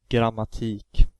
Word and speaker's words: grammatik: Anyhow, back to grammatik. The E has the long vowel pronunciation because there's only one K following the E.